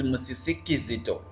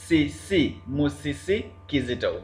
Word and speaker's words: Musisi Kizito: This is Musisi Kizito. Musisi Kizito. That's how they pronounce my name.